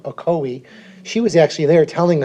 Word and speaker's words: Ocoee: wrong oh cheat how do you say it ocoee ocoee she was actually there telling us about this